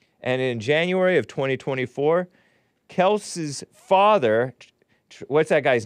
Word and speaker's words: Kelce: It's Kelce. It's not Kelce. It is Kelce, only because everybody was calling it Kelce. But originally, it was Kelce.